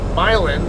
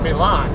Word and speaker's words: Milan: those Mysteries to be why the locals call it violin and not Milan I will never call